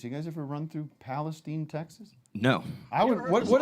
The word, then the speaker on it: Palestine: would what is this why are you willfully pronouncing it wrong to separate it from palestine yeah palestine with palestine see palestine we we ain't no arab from palestine we're palestine say well there's my favorite